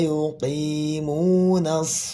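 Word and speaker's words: يُقِيمُونَ: Tapi ketika dia berharakat kasrah maka dibacanya jangan terlalu tebal ya. Tafkhimnya ringan ya. Alladzina yuqi. Jangan yuqi yuqi enggak. Alladzina yuqimunas.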